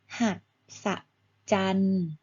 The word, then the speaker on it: มหัศจรรย์: นี้ อ่าน ว่า อะไร คะ ลูก เอา มะ มหศจรรย์ นะ คะ แต่ จาน ตัว นี้ มี ยอ